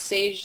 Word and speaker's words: Saje: my Instagram handle is sage Sage period and my name is spelled si je which is confusing most people think it's a G I have a children's